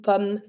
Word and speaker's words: pomme: The pomme has a double M. It doesn't change the sound. You're just going to be pronouncing like regularly, une pomme. And you stop at the M. Final E is mute.